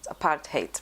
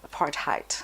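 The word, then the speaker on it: apartheid: Trevor Noah says it apart hate means apartness he says you know most Americans all would say apart height that's not how you say it yeah what was I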